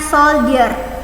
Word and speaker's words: soldier: Bacanya soldier, pakai Y, soldier.